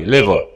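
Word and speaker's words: liver: نلاحظ ان الار في الاخر مش بتنطق، بتنطق خفيفه قوي. ليفر.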